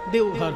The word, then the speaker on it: দেওঘর: তারপরে এখন ব টা অ তে পরিণত হিন্দি উচ্চারণে দেওঘর হয়ে গেছে যাবেন এটা দ্বাদশ জ্যোতির্লিঙ্গের এক জ্যোতির্লিঙ্গ